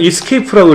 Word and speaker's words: ESC: ESC 원래는 escape라고 읽어요.